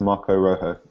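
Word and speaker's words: Marcos Rojo: help us out tell I learned um the other week it's Marco Rojo that's it he's silent s apparently but uh yeah he's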